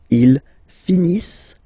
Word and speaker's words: finissent: So remember, as usual, when we've got the verbs and t not pronounced. Ils finissent.